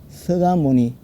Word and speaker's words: 석가모니: 삼고 그런 분의 이름을 서가모니 부처님 서가모니 불 석가모니 그러지 말고 부드럽게 쓸 때는 석가모니로 쓰지만 읽을 때는 나무 서가모니 불 서가모니불 하면 자연스럽게 발음이 되죠.